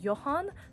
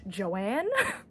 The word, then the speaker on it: Johan: long to realize that the character's name was Johan not Joanne um cuz it's spelled j o h a an N so it took me